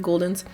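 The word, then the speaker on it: Gulden's: That's how you say it, Guldens.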